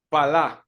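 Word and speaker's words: פלא: en segundo lugar la palabra hebrea palah que palabra esa que ven allí que se pronuncia pala significa separar distinguir ser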